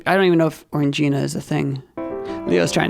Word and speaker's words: Orangina: orange purple and oh is that how that's pronounced Orangina Orangina I always felt weird like embarrass getting that